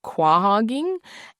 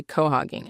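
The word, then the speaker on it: quahogging: And I actually looked it up and there are people who say it like quag like I think family guy, are they from quag? So there are people who say it like that and then there are people who say co-hoging and he made it a point to say co-hoging a lot.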